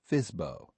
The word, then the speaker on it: FSBO: Properties listed as for sale by owner, or FSBO, pronounced FISBO.